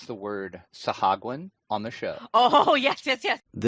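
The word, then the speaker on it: Sahuagin: So anytime anybody says the word Sahagwin on the show. Oh, yes. This is a dwarven translation of an Elvish word. So it is pronounced Sawajin.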